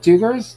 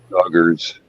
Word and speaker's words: Duggars: Are we still talking about doogers? The duggers. Dgers. How do you say duggers? Doogers. What is it? Duggars.